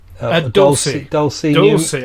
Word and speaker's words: Dulce: Dulce. I think Dulce, because that's how it's said Dulce in Latin.